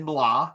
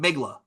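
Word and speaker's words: Mgła: It's said Mla. That's how you pronounce it. But how Mla Ma? looks, Mla. Okay. I never knew I that. I always called it Migla, but it's Yeah.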